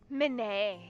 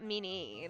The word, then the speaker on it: Manet: out, but it's not, it's pronounced Manet. Like, I'm like, he's one of those people who's like, my name is pronounced Manet, not Meanie.